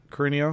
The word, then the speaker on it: Carino: Is that how I pronounce it, Carino? Yeah, you actually pronounced it correct.